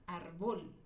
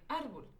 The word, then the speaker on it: árbol: Porque si yo le pusiera el acento en la última sílaba, diría árbol, árbol. Si yo lo pongo en la penúltima sílaba, diría árbol. Y la acentuamos porque no termina en NS vocal, termina en L.